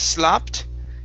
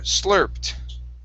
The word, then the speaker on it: slurped: slurped okay right here instead of slopped it's slur slurped sloped okay one more